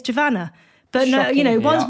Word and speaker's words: Giovanna: tv i'm always giovanna my name's not javana it's javanna but no you know